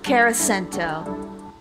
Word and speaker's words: Carasento: unfriended on social media then you should try caracento that's how you that's how you say it